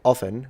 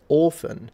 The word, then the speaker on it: often: Queen one time, instead of saying like like often, you would say often or often. The Queen says orphan, and it sounds like an orphan, like someone without a dad.